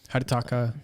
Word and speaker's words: Hidetaka: Hidetaki? Where's it at? Hidetaki? I'm so trying to find it. Hidetaki. Right here. His name kind of rhymes there a little bit. Pretty cool. Hidetaka Miyazaki.